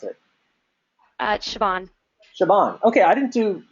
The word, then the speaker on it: Siobhan: How do I pronounce it? Siobhan.